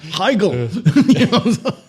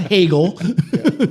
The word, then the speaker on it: Hegel: Well, you know, the Hungarian and German really do get pissed off when people mis mispronounce these. It's exactly Higgel. Not Hegel.